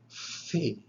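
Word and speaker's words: φι: on our table is the letter fee fee this is voiceless so if you make the sound of this letter which is like the english f or ph when you pronounce that you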